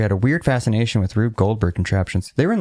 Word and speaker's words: Rube Goldberg: Rube Goldberg. Rube Goldberg, yeah.